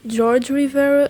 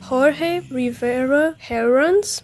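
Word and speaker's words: Jorge Rivera-Herrans: in the last video I said George Rivera and some of you pointed out that that's not the correct pronunciation and I'm sorry so it is Jorge Rivera herun I hope I pronounce it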